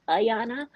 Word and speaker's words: Ayanna: okay but first um my name is actually pronounced ayanna okay yeah but if you